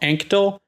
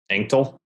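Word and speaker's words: Anctil: Next, we have Julian Anstil, A-N-C-T-I-L. Anktil? How would you pronounce that, Ryan? A-N-C-T-I-L. Anktil? That's what I thought.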